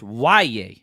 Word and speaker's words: Yahya: It's spelled YAHYA, but it's pronounced YA.